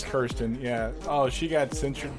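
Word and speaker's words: Kyrsten: next oh christian cinema is it kristen or kirsten kirsten kristen whatever it doesn't really matter but like i hear it pronounced both ways all the time so i'm just trying to make sure it is kirsten yeah oh she got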